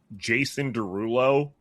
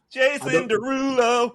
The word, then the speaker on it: Jason Derulo: Ladies and gentlemen, may I also give you Jason Derulo was probably way worse. You didn't say Jason Derulo the correct way. Yeah. Can you say it the right way?